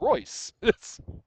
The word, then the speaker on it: Royce: They're talking about Hoist Gracie and I said, "Well, who's hoist? All I see is Royce."